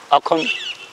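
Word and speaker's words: Assam: वो जो हूँ जिमें आसम बोलते हैं आप एंड जदों वो प्रनाउंस करते हैं वो सानू खा बोलते हैं अखम वो मतलब असम नहीं बोलते। हाँ वो अखम बोलते यस उन्हें तो हो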